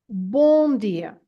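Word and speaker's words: Bom dia: at the end and this m at the end is not to be pronounced as a m sound as an M sound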